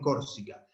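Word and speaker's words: Corsica: Si la penúltima sílaba es breve, el acento se va una más para atrás, como en Córsica.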